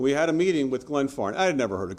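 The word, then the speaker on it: Glenfarne: And we had a meeting with Glen Farm. I had never heard of Glen Farm. I couldn't even pronounce Glen Farm. For the longest time, I was pronouncing it Glen Farm.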